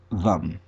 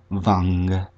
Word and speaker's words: Vam: Above the Makara and the Yantra is the bija for this chakra, Vam. Again, you may also pronounce it as Vang, if you wish.